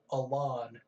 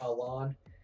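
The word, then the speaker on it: Alain: Y Z saga there was a character called a lon well that's how they pronounce his name on the anime in a way but it's actually spelled like Alan but they say along he was another rival of Ash's in the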